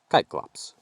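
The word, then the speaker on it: Cyclops: society males have horns and females do not kyklops spelled c-y-c-l-o-p-s large monstrous humanoids with a single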